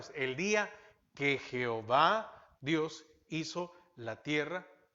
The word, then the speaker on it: Jehová: Colocaron las vocales de la palabra Señor, Adonai, a las 4 consonantes y se puede pronunciar Jehová.